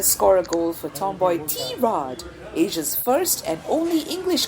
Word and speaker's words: Tirade: a goal for Tomboy Tirade, Asia's first and only English comedy chat podcast. And mind you, it's pronounced Tirade, not tirade or tirade or however else you want to call it.